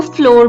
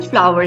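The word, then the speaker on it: flour: अब word फ्लावर है, अक्सर लोग इसको गलत प्रोनाउंस करते हैं, उसको फ्लोर बोल रहे होते हैं या फ्लावर बोल रहे होते हैं, लेकिन वो गलत प्रोनाउंसिएशन है। इसकी करेक्ट प्रोनाउंसिएशन फ्लावर है। जो फूल वाला फ्लावर होता है ये वही इसको वैसे ही बोलते हैं। फूल वाले फ्लावर की स्पेलिंग और होते हैं और आटे वाले फ्लावर की स्पेलिंग डिफरेंट होते हैं, लेकिन दोनों की प्रोनाउंसिएशन सेम है।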